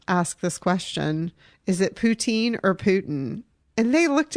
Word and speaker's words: poutine: went our server told us it was actually pronounced Putin Putin yes and we were like oh because